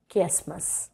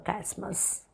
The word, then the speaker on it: chiasmus: Now the final figure of speech which we are going to do today or look at is called chiasmus or chiasmus, whichever you want to pronounce it.